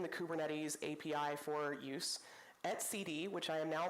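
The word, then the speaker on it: etcd: responsible for exposing the kubernetes API for use at CD which I am now pronouncing correctly in this talk which is a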